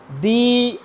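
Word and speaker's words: dough: বলা হয় খামির বাট ইংলিশে বলা হয় ডো ডি O Yuji H উচ্চারণটা হচ্ছে ডো আমাকে অনেকে উচ্চারণ জিজ্ঞেস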